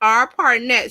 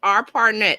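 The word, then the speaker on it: ARPANET: to change let's see okay Barb says it's pronounced R partnet sweetie thank you so it's R partnet the a r p a n t is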